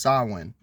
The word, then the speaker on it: Samhain: Halloween is thought to have roots in old Celtic harvest festivals, particularly the Gaelic Samhain, pronounced Samhain.